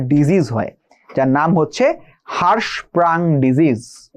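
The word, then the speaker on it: Hirschsprung: এর ফলে একটা ডিজিজ হয় যার নাম হচ্ছে হারস প্রাং ডিজিজ বানানটা লিখে দেই এইচ আর আই এইচ আই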